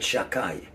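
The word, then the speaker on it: Shaddai: that represents the name shin dala jud we pronounce it shakai but also the shindala youth stands for shaymer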